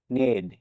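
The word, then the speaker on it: knee: কে N double E নি মানে হাটো এখানেও কে এর পর এন লেটার আছে তাই কে লেটার দি সাইলেন্ট থাকবে মানে উচ্চারিত হবে না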